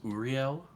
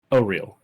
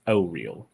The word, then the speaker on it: Auril: And I'm sorry, just for clarification, that was Uriel? Auril. How do It's you spelt Auril. Pronounced Auril.